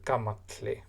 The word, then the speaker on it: gamalli: So gamalli, and again pronounced with a T insertion.